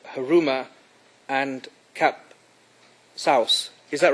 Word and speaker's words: Kapsaos: I think the word should be Kapsaos, Mr.